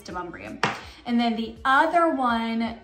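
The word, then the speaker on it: Demonbreun: If you see it, it is not pronounced Demon Bruin. It's pronounced Demumbrian.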